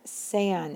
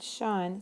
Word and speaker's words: sean: Ser, sean. It's pronounced sean, not Sean, sean.